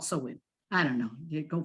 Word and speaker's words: Samhain: And I know it's spelled Samhain, but it's called Samhain.